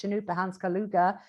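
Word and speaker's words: Chanupa Hanska Luger: artist called chanupa the way his name is pronounced chanukah hans kaluga uh who is uh uh has been creating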